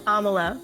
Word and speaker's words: Amala: to butcher it, but I do know Amala is how you pronounce her first name because she has said it before in interviews.